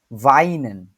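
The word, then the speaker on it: Wein: আছে এই অংশটুকু হচ্ছে ডাব্লিউ আছে কিন্তু এটা হচ্ছে উচ্চারণ হচ্ছে আমাদের ভি এর মত হবে ভাইন ভাইন ভ দিয়ে যদি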